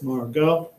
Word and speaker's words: Margot: It's pronounced like this, Margot.